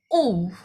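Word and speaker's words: 유: Kalau panahnya ke bawah, ini U. Oke, U. Sama seperti, bacanya sama kayak U di Indonesia gitu ya.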